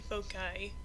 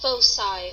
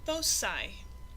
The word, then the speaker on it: foci: I've been saying foci, but it's actually pronounced foci or foci. So now you know. It's pronounced foci.